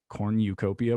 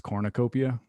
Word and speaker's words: cornucopia: my brothers hate that i i say um cornucopia but it's apparently it's cornucopia oh yeah i mean apparently i say that